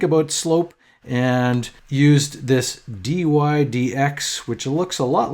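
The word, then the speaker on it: dy/dx: That's the symbol he used, and you just say it like that, dy dx.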